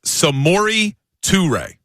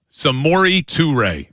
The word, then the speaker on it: Samori Toure: Yes, I'm looking at the pronunciation. It's Samori Toure. Samori Toure.